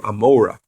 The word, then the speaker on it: Gomorrah: city of Sodom and Gomorrah, or it's pronounced in Hebrew, Amorah.